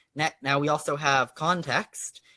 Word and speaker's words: ConTeXt: now we also have context which of course has the x pronounced like an x as as i believe